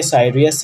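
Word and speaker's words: Sirius: सीरियस है। ठीक है, साइरियस है, इसे साइरियस एंड साइरियस भी प्रोनाउंस किया जाता है।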